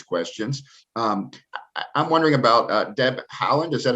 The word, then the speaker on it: Haaland: I'm wondering about Deb Haaland. Is that how you say it? Is at Interior? Deb Haaland, yes.